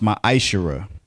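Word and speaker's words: מעשר: Means 10th in the Hebrew and is pronounced ma'ashera.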